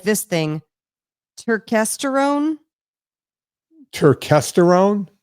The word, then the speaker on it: Turkesterone: Turkesterone. Turkesterone. Spell it. I'm gonna look it up. T U R K E S T E R O N E.